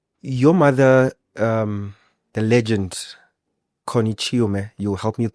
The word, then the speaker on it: Chiume: Your mother, the legend, Connie Chiume, you'll help me with pronunciation. Am I getting it right? Chiume.